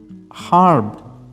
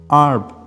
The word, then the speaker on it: herb: In Britain, herb, H sound. In American, herb, no H sound.